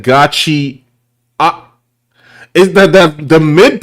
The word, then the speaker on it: Gachi: I've heard gacha cuda, but he said gotchi.